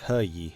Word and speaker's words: Heiyi: Don't know if you care about it, but Heiyi is actually pronounced like He-yi.